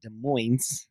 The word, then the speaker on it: Des Moines: And so anyway, they spent the night in Des Moines, Iowa. Yeah. And Minus the S.